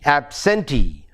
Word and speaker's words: absentee: And a word like absentee, absentee. The stress is on T, E, absentee.